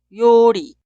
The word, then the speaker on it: 요리: Esta palabra se pronuncia yori, yori, yori.